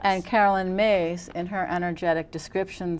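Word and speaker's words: Myss: Carolyn Mace is an amazing medical intuitive.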